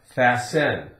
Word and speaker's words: fasten: Now we have S-T-E-N. If we took off the E-N, we'd have fast, fast. and we pronounce the T, fast. Now we have fasten.